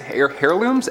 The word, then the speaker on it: heirlooms: Heirlooms? Heirlooms? The H is silent.